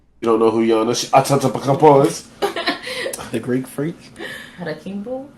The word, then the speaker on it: Antetokounmpo: You don't know who Giannis Antetokounmpo is? The Greek freak? Harakimbo? Antetokounmpo?